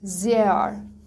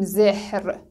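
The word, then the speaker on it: mehr: مثلا این لغت رو نگاه کنید به معنای زیاد. زیار، نمیگیم زهر، ها خونده نمیشه اما حرف صدا داره قبلش به صورت کشیده خونده میشه.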